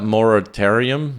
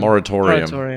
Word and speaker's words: moratorium: Institute uh um how do you say that moritarium moratorium moratorium there we go the joys of doing a